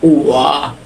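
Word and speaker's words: 我: প্রথমত এখানে চাইনিজ শব্দ, এই চাইনিজ শব্দের উচ্চারণ হবে ওয়া।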